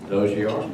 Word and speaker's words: Dozier: sometimes because John, his last name is spelled Dozier, but it's pronounced Dozier.